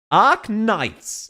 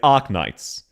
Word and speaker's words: Arknights: Again, we would say Ark Knights. She's going ark knights. And you can hear both syllables are correct. They're just split up.